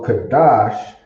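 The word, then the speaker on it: קדש: know that's a one it's pronounced kadash and then written out in the hebrew characters you have kadash that looks silly looks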